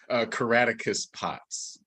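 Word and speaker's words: Caractacus Potts: Day, Willie in The View Upstairs, is it Caracatus? How do you pronounce that? Caraticus Potts.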